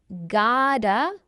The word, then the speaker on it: gotta: This reduced word gota pronounced God with a d even though there's a t is really I have got to admit.